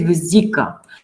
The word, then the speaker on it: vesica: But there are exceptions, and one important exception is vesica. So it's not vesica, it's vesica.